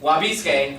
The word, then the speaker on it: wabi-sabi: Wabi-sabi. I just seriously was about to say wasabi sauce. I'm kind of a jerk. You're kind of fat. It's horrible. It smells delicious. Oh. Anyway, Wabi-sabi, where I was Of yours.